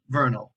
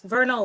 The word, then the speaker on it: Vernal: we have professor fiona verno bernal vernal are you here professor i just don't want to say your name wrong yes vernal like the equinox like the equinox i